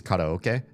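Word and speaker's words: karaoke: You can pronounce it however you want. As long as I hear the K at the beginning and the oak somewhere in the middle, I probably know what the heck you're saying. But I can't pronounce it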